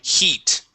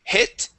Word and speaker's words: heat: the word heat okay this is a just an e sound okay like a Spanish I okay e he heat heat try that heat okay give me an e sound here you're saying hit he it is he okay like uh like Spanish saying see yeah that's it he heat